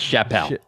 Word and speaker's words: Chappelle: His name's pronounced Chappelle.